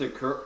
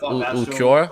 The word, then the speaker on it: Ulquiorra: It was against Akura. Like, how do you fuck you say his name again? Akura, the guy that has 2 forms or whatever. Oh, that Ulquiorra?